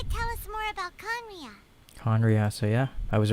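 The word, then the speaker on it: Khaenri'ah: 500 years ago, how do we pronounce this again? Conria. Conria.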